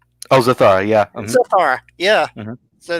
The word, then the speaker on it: Zathara: Say her name, Kathara. Oh, Zathara, yeah.